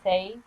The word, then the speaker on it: eh: For the for the Canadian pronunciation, a rhyme with hey. A Canadian might say the weather's nice, eh?